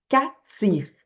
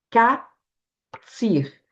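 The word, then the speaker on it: קציר: A palavra mais usada para colheita em hebraico é catir. Katir. Ela se escreve com a letra cuf, né, que é a raiz, o cuf, o sad e o rech, tá?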